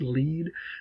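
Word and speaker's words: lede: the lead which again sometimes is spelled l-e-d-e but it's still pronounced lead and that was intentional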